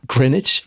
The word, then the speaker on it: Greenwich: Oh, Greenwich, yeah. Greenwich? Yes. Yeah, that's how you say it.